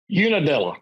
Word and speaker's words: Unadilla: Unadilla, is that how you pronounce it? Unadilla.